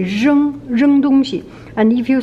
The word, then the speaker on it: 扔: Okay, 扔. So this R is R sound. Just remember, it's R.